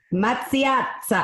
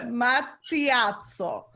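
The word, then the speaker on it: Mattiazzo: Mazziazza. How do you say it? Matiazzo. Mazziazzo. Yeah, it's a long double-barreled 2 T's, 2 Z's.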